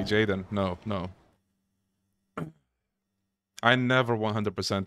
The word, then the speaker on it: Gaiden: to me sweet is it pronounced yeah it's uh jayen anybody excited for Jaden will you 100% giden no sorry jayen no no I never